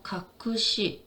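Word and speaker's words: 学士: 그래서 이거는 사를 시라고 보통 발음합니다. 그래서 가쿠시, 가쿠시, 슈시, 그래서 학사, 석사, 신사, 신시.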